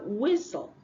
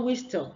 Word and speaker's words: whistle: the O is silent have whistle whistle no whistle the t is what silent and then we have